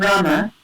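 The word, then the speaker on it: Ramā: Different from Rama, right? So it has a long A at the end, which indicates it's feminine, Rama.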